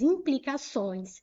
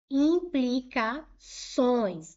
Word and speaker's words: implicações: Na letra C, nós temos implicações e construídos. Vou olhar a tonicidade silábica que vou separar em sílabas. Implicações. Implicações. Os sons é a sílaba tônica, é uma palavra oxítona.